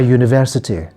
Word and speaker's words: university: consonant for example a university a useful device a unicorn the pronunciation of the letter U in these terms is like the consonant Y so we don't use